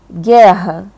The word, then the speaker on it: guerra: Gente, o QU e o GU, eles só serão dígrafos quando não se pronuncia o som da letra U. Então, por exemplo, em palavras como guerra, tá?